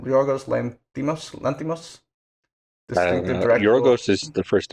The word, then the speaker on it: Yorgos Lanthimos: What's how do you pronounce his name? Yorgos Lanthimos.